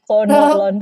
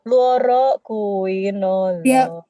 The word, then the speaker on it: fluoroquinolone: Nah, Bacanya yang betul, Sel. Bukan fluoro fluoquinolone, bukan ya, fluoroquinolone.